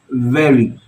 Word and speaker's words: very: pronouncing the letter V I am touching the lower lip with the upper part of my teeth we it's not we it's we so it's very so I hope from